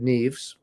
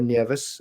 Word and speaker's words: Nieves: And so I started, and fortunately, luckily for me, this fellow, Richard Neves, or Nieves, as he was actually pronounced, taught me from day one how to read, some flamenco, some classical, a folk song.